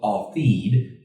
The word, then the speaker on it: Altheed: The motto is a Hebrew term it's called Altheed. Is how it's pronounced. Like if you wrote it out phonetically, it'd be AW-THEED.